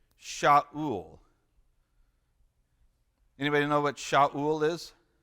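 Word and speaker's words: שָׁאוּל: This one is Sha'ul.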